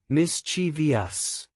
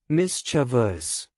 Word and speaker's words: mischievous: wrong develop correct develop mischievous wrong mischievous correct mischievous archive wrong archive with ch